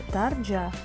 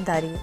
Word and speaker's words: Дарья: Хотя вот эта буква читается как J, получается, да, Дарджа. Но, видимо, все ники были заняты, и, наверное, это Дарья.